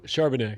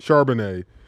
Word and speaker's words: Charbonnet: Charbonnet. Charbonnet.